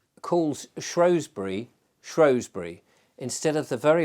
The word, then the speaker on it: Shrewsbury: people it would seem say shrew as if it's named after a shrew, but it isn't.